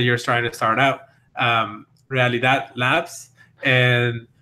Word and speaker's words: realidad: Apparently, people were having trouble pronouncing realidad, which means in Spanish it means reality. Obviously, for us Spanish speakers, I suppose it's great, realidad. But for other people, we're reading a really dad.